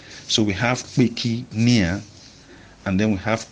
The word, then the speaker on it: kpeki: Now, Peki, like I said, is spelled K-P-E-K-I. And the E is falling from left to right.